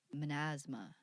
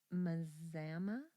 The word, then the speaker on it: Mazama: There's no N there. You just like threw an N at the before the Z there. That feels right. There are silent letters It feels all the right. time. Apparently, this word has a silent N in it, you guys.